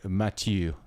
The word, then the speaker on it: Mathieu: Close. It's essentially Mathieu, which is the French version of it.